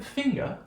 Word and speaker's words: finger: this but not a finger finger notice I'm doing we're doing received pronunciation British transcription so we're gonna write this schwa there's a silent are there you're aware of this